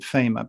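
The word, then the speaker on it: Faema: Is this mechanism from 1961, which was actually, I realized then, and I'm so glad you pronounced it FEMA, because I wasn't really sure. Is it FEMA? FEMA, mm-hmm.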